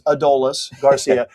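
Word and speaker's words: Adolis García: He said it's Adolis Garcia. Um, you know, That clears everything up, too, because there was a lot of Adomises, yeah, Adolises, everything. It is Adolis. Adolis Garcia.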